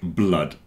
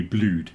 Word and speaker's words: blood: that everyone mispronounces like blood and flood rhyme with mud a lot of people think it must be blued cuz it's like food but it's not like food it's like mud so there's a section